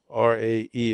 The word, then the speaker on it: Ray: It was in a small town north of Tucson by the name of Ray. Rae E in Spanish, but it's spelled R A Y also.